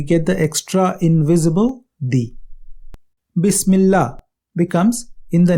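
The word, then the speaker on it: بسم الله: This type of alif, when it does not begin a sentence, disappears into the sound at the end of the word before it. Thus, Bi Ism becomes Bism, and Bismi and Allah becomes Bismillah.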